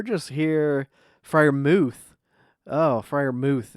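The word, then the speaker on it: Freiermuth: here friar mooth oh friar mooth is the uh the pronunciation and it is it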